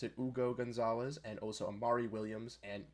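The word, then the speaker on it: Hugo González: Patrick and I did look at those picks in Ugo Gonzalez, now that we know how to pronounce it, Ugo Gonzalez, and also Amari Williams and Max Shulga.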